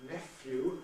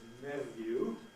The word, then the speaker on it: nephew: The green line represents the rise of nephew at the expense of neveu, neveu being the traditional pronunciation, borrowing from French neveu after all, but nephew no doubt supported by the spelling.